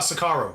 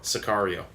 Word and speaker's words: Sicario: American Wow I played a good role in pronounce it for me the Benicio del Toro where he's killing cartel Oh Socorro Sicario and uh and get out so that's his